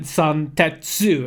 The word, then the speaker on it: Zantetsu: which is Dueling Dragon Zantetsu. And I know it doesn't state that in the name, but that's how you actually pronounce it if you read the hiragana the way that it should be read.